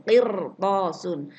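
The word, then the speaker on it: قِرْطَاسٌ: Qirtasun. Selanjutnya, sesudah ro sukun itu ada huruf isti'la. Nah, nih, sesudah ro sukun kemudian ada huruf isti'la. Mana huruf isti'lanya? To. Maka membacanya dibaca tebal. Qirtasun.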